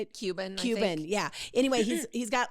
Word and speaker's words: Cuban: Cuban, yeah.